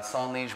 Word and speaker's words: Sans Liege: you're saying it right so it's uh song niche wines and uh the meaning behind it is a song is without in french and lige is a old root english word that allegiance came from